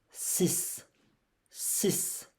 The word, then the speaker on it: six: Here you have an X, but remember don't pronounce the X here. You will pronounce it like S. Sis sis.